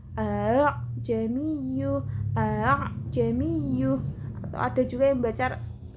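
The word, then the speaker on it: أَأَعْجَمِيٌّ: A-nya yang pertama dibaca jelas, yang kedua dibaca tashil. A'jamiyyu.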